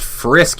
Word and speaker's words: Frisk: so all right cool she's Fritz from undertale his name is pronounced frisk you uncultured swine gotcha she's filled with determination